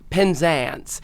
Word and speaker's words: Penzance: I performed for her at the Tony's, the Penzance, those from Penzance. Oh my god, I said it wrong after how do you say it? Penzance.